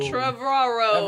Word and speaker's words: Trevorrow: It's like tomorrow and Trevor combined.